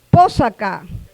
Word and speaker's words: Pósaca: Pósaca. La segunda sílaba es abierta. Por lo tanto, se acentúa la primera, pósaca.